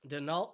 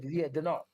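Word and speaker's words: Daigneault: Denault. He's been there about 2 seasons now, right? Denault, right? Denault, yeah. Is that how you pronounce it? French. Yeah, Denault.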